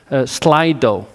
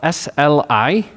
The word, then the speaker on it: Slido: I'll ask him the questions, and you will put them online on a site called Slido. So it's spelled SLI.do, Slido.